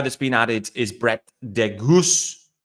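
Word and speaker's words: de Geus: The other guy that's been added is Brett DeGoose. Again, pronunciation, emphasis on the goose on the second part of his surname.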